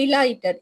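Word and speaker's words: delighted: இப்ப டிலைட்டட், இந்த டிலைட்டட்னா மிச்சம் ஹாப்பி ஆயிக்கிறேன்னு அர்த்தம். இதே டிலீட்டட்னு வாசிச்சு பாட்டுச்சுன்னு சொன்னா அது மீனிங் பிழையாவிடும். சரியா?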